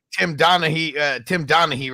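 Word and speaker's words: Donaghy: Tim Donahue, right?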